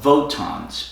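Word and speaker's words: WOTAN: is a computer called votans about wot a.m. they're using an alternate pronunciation for the W which was because the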